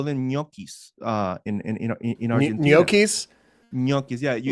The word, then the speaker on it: gnocchi: Gnocchis? Gnocchis, yeah. Like a potato gnocchi? I absolutely love that example. That's how you pronounce it, gnocchi.